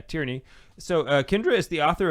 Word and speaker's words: Tierney: So Kendra is the author of Tyranny. Not Tyranny. Did I say it wrong? Tierney. Did I say, okay, yeah, Tierney.